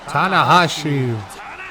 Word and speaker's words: Tanahashi: Tanahashi, records 1-0.